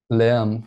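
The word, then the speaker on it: Lärm: How do you say that? Lamb? Lamb. It's noise, and like German word for noise.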